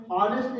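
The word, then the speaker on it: honest: ऑनेस्ट यानी कि यहाँ पर एच साइलेंट है, तो हम यूज कर रहे हैं, कहाँ से पढ़ना शुरू करेंगे, ओ से, यानी कि ऑनेस्ट।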